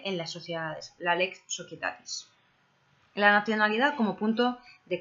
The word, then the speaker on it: Societatis: Ley aplicable en las sociedades, la Lex Societatis. La nacionalidad como punto de conexión de la Lex Societatis. Societatis escribe societatis, pero es que en latín la C se pronuncia como una K.